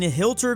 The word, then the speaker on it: Hilter: of Hilter lower Saxony and you heard that right I said Hilter and no I'm not mispronouncing it like I mispronounced a